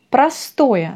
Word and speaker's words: простое: Будущее простое, c'est le futur simple. C'est la même chose qu'en français, le futur simple. Простое, простое, l'accent sur O.